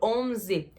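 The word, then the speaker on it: eleven: O número 11, 11, 11. O E é um pouquinho mais fechado, como se fosse um I.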